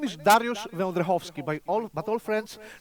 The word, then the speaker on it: Wędrychowski: because of the bird my name is darius vendrickovsky by all but all friends know me as